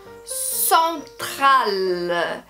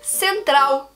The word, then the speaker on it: central: En français, on va avoir le son nasal pour la première syllabe, alors son, central. Et on va bien prononcer ces L à la fin, donc central. En anglais, ça change un peu. Ça va être central, central. D'accord? Alors le son du L change bien.